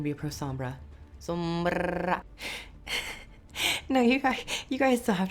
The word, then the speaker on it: Sombra: But for those who are just getting into Sombra, and yes, you do have to roll your R. If you don't, if you can't, then you're not going to be a pro Sombra. Sombra.